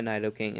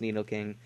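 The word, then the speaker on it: Nidoking: just bring in my naido king and I know it's pronounced Nido King but I've always pronounced it naido King so yeah and I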